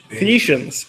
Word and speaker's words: Phaeacians: Phaeacians.